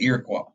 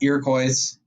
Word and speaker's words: Iroquois: Now, what's most famous about these settlements, and I'm going to talk about the Iroquois. That's right, it's not Iroquois, it's Iroquois, it's French. Oui, oui.